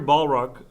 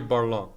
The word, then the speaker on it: Barlog: I have Corey Balrog, did I pronounce it right? Cory Barlog.